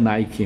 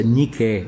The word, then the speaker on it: Nike: deles não só que a pronúncia não é Nicki irmão a pronúncia Nike só que a gente pronuncia meio Americana e a palavra ninguém